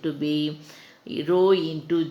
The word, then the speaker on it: rho: Okay, so how do we pronounce this? This is rho, or H O W, so rho.